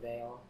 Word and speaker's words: Vael: I never quite learned the right pronunciation, but Aldrich just calls me Vale.